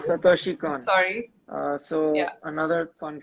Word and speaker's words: Satoshi Kon: I don't know how to pronounce this. Satoshi Kon? Satoshi Kon.